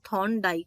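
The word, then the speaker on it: Thorndike: थॉर्नडाइक, आर हम pronounce नहीं करते हैं, हम सिर्फ थॉर्नडाइक बोलते हैं।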